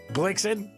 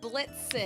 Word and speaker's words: Blitzen: Blicken. Say it again. Blicken. Why can't you say it right? What is it? Wait. In football. What is it? Blitzen.